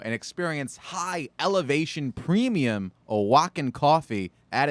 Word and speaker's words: Oaxaca: From Oaxaca. Are you impressed that I knew how to you pronounce that?